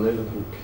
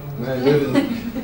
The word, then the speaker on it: Leeuwenhoek: another one who made the different type of microscope was, I don't know how to pronounce this, Fredrik? Antonie van Leeuwenhoek. Leeuwenhoek? Yeah. No. Leeuwenhoek.